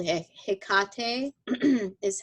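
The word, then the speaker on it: Hecate: to work with as a goddess called a Hickok hmm is how you pronounce it she's a goddess of the crossroads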